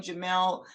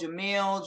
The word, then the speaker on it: Jamelle: just Jamelle, but it doesn't Okay. bother me, but it is just plain Jamelle. I get called Jamil, Jamal, Jamila, Jamila.